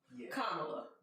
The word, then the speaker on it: Kamala: that with a t so that's why i pronounce it but it's kamala kamala harris all right kamala d harris okay